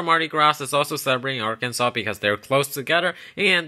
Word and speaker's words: Arkansas: Yes, pronounced Arkansas, not Arkansas. This has something to do with the French exploration crap.